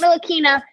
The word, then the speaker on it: Ntilikina: I've taken 3 years to learn how to pronounce his last name. So Frank Ntilikina.